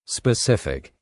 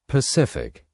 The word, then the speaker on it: specific: Some people drop the s sound in specific and say pacific. But this is not a correct English word.